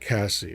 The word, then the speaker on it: Casey: Or it could be Kazzy. I doubt it's KZ, but hey, anything's possible. First names can be pronounced a lot of ways, so it is like Cassie.